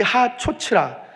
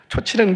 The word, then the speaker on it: 하초츠라: 이 하초츠라 발음 잘해야 돼. 초치라는 게 아니고 하초츠라 은나팔입니다.